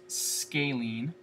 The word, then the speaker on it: scalene: It's pronounced scalene. Scalene.